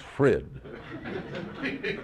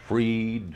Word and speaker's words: Frid: or van or Fitz but Fred it is no Cadence no Melody just Fred well at least you wouldn't think that anyone would have difficulty pronouncing it but I've heard everything Fred freed frit food fried and even Freud well when I was